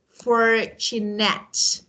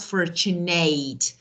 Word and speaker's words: fortunate: Okay, but sometimes there are other words that they should be pronounced as at. For example, we say certificate, at, not certificate, or fortunate, not fortunate.